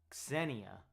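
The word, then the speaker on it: Ksenia: Apparently it's a Russian name and in Russia it's said as Senia. Wait, Sena, but in English they say it as Cassenia.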